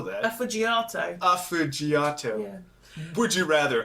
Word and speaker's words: affogato: Fudgiato? Fudgiato. That's the name of the episode. Fudgiato. I'm going to have to figure out how to spell that. Affogato.